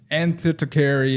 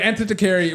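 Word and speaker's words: Antikythera: Anticaryi. Stress on kith and mech. Okay. So, ant. How can this be empire if you can't pronounce it? Okay. Wait. Anticaryi.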